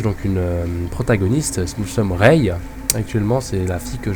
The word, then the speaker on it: Rei: une protagoniste nous sommes Reay actuellement c'est la fille que je contrôle Reay qui donc s'écrit r e i hein c'est pas comme Reay rayer enfin peut-être qu'elle s'est